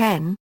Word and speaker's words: 円: Pronunciation and etymology Yen is pronounced "en" in Japanese.